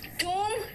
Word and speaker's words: tomb: Pronunciation ओ है, orange, और टूम में ऊक है, यानी कि ओ का तीन जगह पर तीन अलग अलग है।